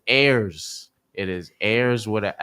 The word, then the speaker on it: Ayers: That's AIRS, Air with a S for those who don't pronounce it right. Some people say Aris, Aries. It is Ayers.